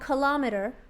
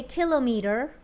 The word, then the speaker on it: kilometer: mile abbreviation MI and kilometer abbreviation km now it's very tempting to say kilo meter but that's not really appropriate it's not the correct way to say it it's a kilometer so if you walk